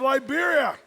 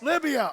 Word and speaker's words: Libya: From the wonderful country of Liberia, I give you Libotics. Libya.